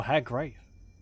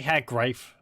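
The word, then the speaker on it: Hag Graef: I say Hag Grave. I think he pronounces it Hag Grief, so we'll go with that.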